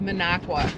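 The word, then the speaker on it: Minocqua: It's Minneago.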